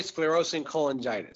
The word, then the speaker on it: sclerosing cholangitis: with PSC, primary, I'll try to pronounce this, sclerosing cholangitis. Is that how you do it? Yes, that's correct. It's called primary sclerosing cholangitis.